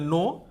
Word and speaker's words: know: यहाँ के साइलेंट है, इसका उच्चारण, इसका प्रोनाउंस करेंगे नो, KNOW, नो, नो, इसको पढ़ेंगे न्यू, नोन।